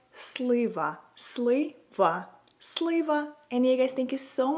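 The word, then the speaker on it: слива: So, if you want to say plum in Ukrainian, you would say it like slaver.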